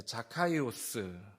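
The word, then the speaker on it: Ζακχαῖος: 이게 원래는 히브리어인데 이거를 헬라어로 발음한 거. 예를 들면 이런 거죠. 우리가 마이크를 할 때 뭐 이렇게 영어로 내가 안 되니까 마이크를 그냥 마이크 이렇게 하는 것처럼 삭개오라는 이름도 자카이오스를 삭개오 이렇게 불렀다라는 거예요.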